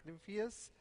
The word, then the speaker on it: Nimphius: and I have as my guest today Frank new fears did I pronounce that reasonably right yeah okay who's the